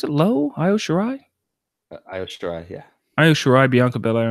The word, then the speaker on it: Io Shirai: How do you pronounce it? Low? Io Shirai? Io Shirai, yeah.